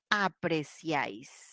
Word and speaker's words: apreciáis: y no lleva tilde apreciáis apreciáis la última sílaba recibe la mayor fuerza de voz la vocal abierta con